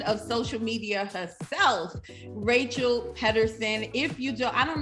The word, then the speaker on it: Pedersen: And then my last name is pronounced Pedersen. So Pedersen. Rachel Pedersen, like Rachel peed her pants.